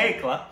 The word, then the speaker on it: Koechlin: Kekla. Kalki Kekla. Which still doesn't make any sense to me, but that's how you pronounce it.